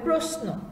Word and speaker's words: প্রশ্ন: যেমন প্রশ্ন, এখানে উচ্চারণটা হবে প্রশ্ন এরকম।